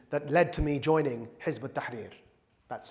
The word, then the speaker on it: Hizb ut-Tahrir: And that was the ideological Islamist conversation that led to me joining Hizb ut-Tahrir. That's how you pronounce it.